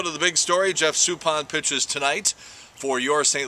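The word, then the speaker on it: Suppan: Supan, for God's sakes, it's Jeff Supan.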